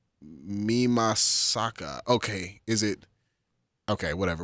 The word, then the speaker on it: Mimasaka: We're gonna go Mima. Fucking. This is Japanese pronunciation. They put the emphasis on a different syllable. Yeah. So. it's Mimasaka.